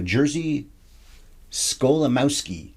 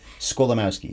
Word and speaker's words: Jerzy Skolimowski: Jerzy Skolimowski. I looked that up earlier, tried to remember how to say it. Had to look at the notes anyway. Skolimowski is his name.